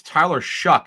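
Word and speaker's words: Tyler Shough: That's Tyler Shuck is how you pronounce it out of Louisville.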